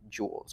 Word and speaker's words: joules: always be joules and it's pronounced joules like jewelry joules okay so that's the